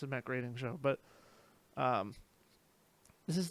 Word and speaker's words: Groening: I knew I was mispronouncing it from the second I said it. It's Matt Groening.